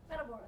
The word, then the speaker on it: Matamoros: All right, so M-A-T is Matt, like Matt in the room. Matt, what's the next three letters? A-M. A-M. Matt, O-R-A-S. Ors. Matamorse. There you go.